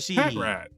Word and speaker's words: Patrat: It's supposed to be like packrat. Patrat, you know, I swear he just makes things up in his head.